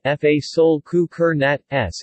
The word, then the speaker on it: Fasole cu cârnați: Romanian pronunciation, Fasole cu cârnați, is a popular Romanian dish, consisting of baked beans and sausages.